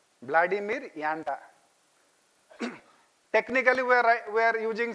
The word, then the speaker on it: Janda: It is pronounced as yanda. Vladimir yanda.